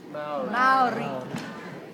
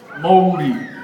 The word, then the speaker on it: Maori: Maori. But that's not how you say it. You would call, say this, moldy.